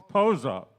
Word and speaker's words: Pozo: Pozo.